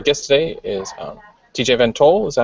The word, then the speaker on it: VanToll: and um our guest today is um TJ vento is that how you pronounce it yep awesome can you just tell